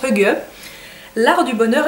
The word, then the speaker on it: hygge: ça s'écrit hi ou hig mais ça se prononce HUG l'art du bonheur à la Danoise le guide